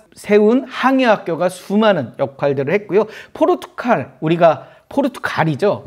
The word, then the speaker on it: 포르투갈: 포르투갈 우리가 포르투갈이죠. 저는 이제 그 발음이 세 가지고 포르투칼 이렇게 말을 말 하는데 원래 포르투갈입니다.